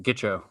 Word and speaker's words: Gitcho: Gitcho. Is that how you pronounce it? Gitcho? That is how you pronounce it, Gitcho.